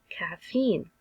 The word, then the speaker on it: caffeine: not follow the rule caffeine all right makes a long e sound but it's e i so when you drink